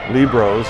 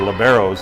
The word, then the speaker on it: libero: know for a gal 5'9 most of the libros or liberos as it's the pronunciation here in the states uh they tend